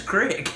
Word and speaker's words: creek: know rick you know c-r-e-e-k quick well that's how i pronounce it apparently in four and a half million other people keep talking i can't i guess i can't argue with the local pronunciation there you go now